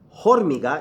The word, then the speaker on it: hormiga: So, la, H is silent, so it's not hormiga, it's muy bien.